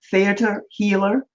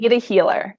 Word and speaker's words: theta healer: know, dear Laura, that you are a certified, am I pronouncing this right, theater healer? How do you, Yes, theta healer.